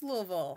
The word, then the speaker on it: Louisville: it is Louisville it's it's really not even a word you don't really even pronounce it's kind of like you won back the Polish you don't pronounce any of the any other letters in the entire word it's more of just a slur volum oh definitely